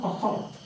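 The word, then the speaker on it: Conchubar: Cohort, pronounced cohort. C-O-N-C-H-U-B-A-R. Irish name, cohort.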